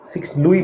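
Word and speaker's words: Louis: तो एग्जाम में पूछेंगे financial financial long years of वॉर और कॉस्ट ऑफ़ मेंटेनेंस ये दो से हुआ अंडर लुई लुई बोलते हैं हां एक्चुअली इसको 16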